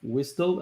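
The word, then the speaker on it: WSDL: using soap you have you have whistle i don't know how you pronounce that i pronounce it whistle and i hope this is correct and xsd which is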